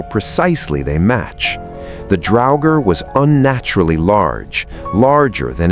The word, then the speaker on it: draugr: The draugr, pronounced draugr, appears across hundreds of